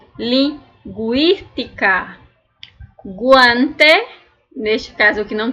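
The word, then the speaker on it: lingüística: agur reo agorero linguística Olha o que eu disse para vocês lingu eu vou ter que pronunciar o u porque ele tá com o trema e o i linguística guante neste caso aqui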